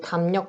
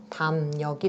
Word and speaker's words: 담력: 받침, 미음 뒤에 오는 리을이 니은으로 바뀐다. 그래서 이 담력 발음하면 담력이 된다.